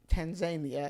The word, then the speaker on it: Tanzania: them for in uh tan Tanzania as we learned they pronounce it but and we found